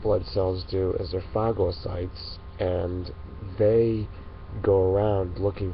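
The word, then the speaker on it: phagocytes: But what the white blood cells do is they're fagosytes and they go around looking for foreign material that could be harmful and they get rid of it. And by the way, fagosytes is spelled, if you want to look it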